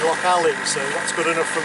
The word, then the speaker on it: Loch Aline: I'm told it's not Lock Align as it uh looks as though it is on the chart. The locals say Lock Alley.